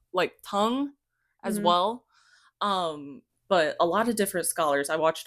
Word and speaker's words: Tang: I wanted to establish that in the Tang dynasty, which also it's pronounced like Tong, and Okay. I keep on reminding myself that it's not Tang.